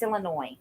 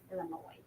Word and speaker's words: Illinois: lot of countries um the S is silent in Illinois it's Illinois Illinois sorry um hi Jackie